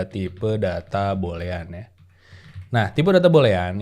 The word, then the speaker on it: boolean: adalah e tipe data bolean ya Nah tipe data bolean itu seperti biasa kita punya data bolean ya data Bull itu bacanya ya jadi jangan aneh-aneh nih nah data bolean itu